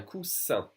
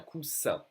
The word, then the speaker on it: coussin: Un coussin. Double S will be pronounced like a solid S. Un coussin, a cushion.